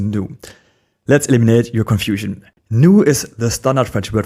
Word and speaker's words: nous: Nous is the standard French word for we. As you know, it is pronounced as I already said, nous, and its final s is silent.